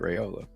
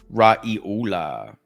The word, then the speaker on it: Raiola: Dylan Raiola. Yeah, that's how you say it, Raiola. Raiola.